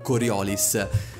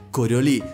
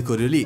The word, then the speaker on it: Coriolis: prima di tutto ho sentito fin troppe persone pronunciare il titolo di questo gioco per così come si legge ovvero coriolis no ragazzi purtroppo tutte queste persone mi duole dire che la pronuncia corretta per l'appunto è correo lì dal nome del fisico francese gaspard gustave de corio